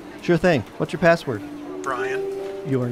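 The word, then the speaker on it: Brion: Brian. Your name is your password? High five! Well, yeah, but it's spelled B-R-I-O-N.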